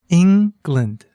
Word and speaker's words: England: Try saying the word England. England. Can you hear where the stress is? It's on the first syllable.